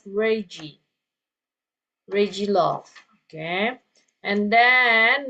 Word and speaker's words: Reggie: So this is pronounced as Reggie.